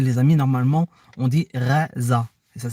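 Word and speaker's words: غزة: de la bande de gaza il faut dire gaza mais les amis normalement on dit reza ça s'écrit g h voilà en tout cas là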